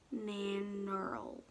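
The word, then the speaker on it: Nannerl: Nanoral?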